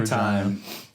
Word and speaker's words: Regina: That's the actual pronunciation. So, yeah, and you know what? Every Regina.